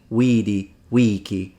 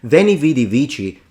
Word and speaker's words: veni vidi vici: pronounced it when he weedy Wiki is the reconstructed classical pronunciation veni vidi vici is not wrong in